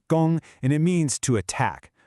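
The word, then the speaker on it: 攻: Her mission is captured by this character, gōng, you say it gōng, and it means to attack.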